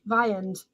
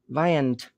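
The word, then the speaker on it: viands: it's like a name v-i-a-n-d-s an item of food cool so it is like vittles um how do we say it viand viand viand almost with a t vayand viant cool why can't i keep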